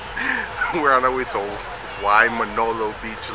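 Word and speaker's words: Waimānalo: We're on our way to Waimanalo Beach, like she says.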